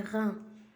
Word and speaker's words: reins: Ça donne le son rein. Ça donne le son rein. Les reins.